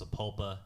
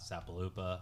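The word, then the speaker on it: Sapulpa: by the way guys I know it's it's pronounced saula not sapopa I was just kidding yeah and people did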